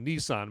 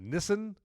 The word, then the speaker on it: Nissan: And so then he's so good at this game that Nissan, I think that's how I used to pronounce it Nissan, but I guess you have to pronounce it Nissan.